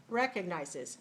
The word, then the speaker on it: recognizes: which one is it which one is correct recognize it stress the stress the first syllable all right so let's